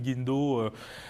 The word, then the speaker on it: Guindo: Je reçois ce soir Guindo, directeur de la fondation SAER Group, c'est bien ça? Oui, c'est bien prononcé.